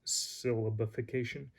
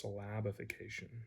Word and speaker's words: syllabification: and now so syllabification i used to pronounce that syllabification until i was corrected during giving a hebrew lecture a friend of mine corrected me he said no it's slabification and nothing like being